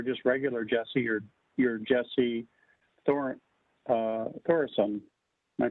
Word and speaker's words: Thoresen: So now that you're no longer just regular Jesse, you're Jesse Thoresen. Am I pronouncing it right?